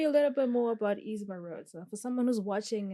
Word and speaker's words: Eazz Meroud: He goes by the name Eazz Meroud.